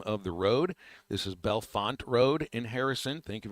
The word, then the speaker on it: Bellefonte: I would like to thank the listener who corrected my pronunciation for the name of the road. This is Bellefonte Road in Harrison.